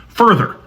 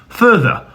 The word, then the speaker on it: further: If you're American like me, you probably pronounce the first vowel the exact same as the second vowel. Further. But if you're British, you probably pronounce the two vowels differently.